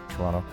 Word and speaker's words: Toronto: You don't pronounce this the the back T if you want to sound like a local but Toronto.